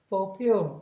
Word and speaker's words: fulfill: 이게 for, 그 다음에 그 다음에 빨리 발음하면 풀필이라고 하시면 안 되고 fulfill 이렇게 발음을 하셔야 됩니다.